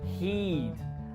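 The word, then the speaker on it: he'd: Finally, we have the word he would or he had, and it's contracted to heed. And heed is pronounced the same as the word heed my advice, which means take my advice.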